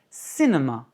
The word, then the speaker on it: cinema: Cinema, accent sur la première.